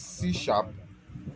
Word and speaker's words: C#: So C# is so it is called it is C#, but actually it is C hash, but actually pronounced C#.